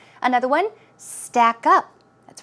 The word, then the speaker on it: stack up: Always keep in mind, when you usually have 2 words, a compound word, the stress goes on the second syllable. So it's not stack up, it's stack up, stack up.